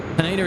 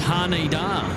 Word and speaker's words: Haneda: And Aussie Wild Horse is saying, Kurt, Haneda is pronounced Haneda. Haneda. No, not Haneda. Not Haneda. Haneda. There you go.